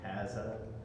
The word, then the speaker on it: Ahaziah: We basically had the scenario of Elijah and having the kings, Ahaziah, however you say his name. The right way to say it is Ahaziah.